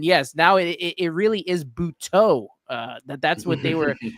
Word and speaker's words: Butto: And yes, now it really is Butto. That's what they were saying as Gary was announcing it. I was shocked when I heard it at first, but that's the correct pronunciation, Butto.